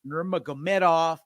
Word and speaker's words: Nurmagomedov: Corey Sandhagen taking on Umar Nurmagomedov.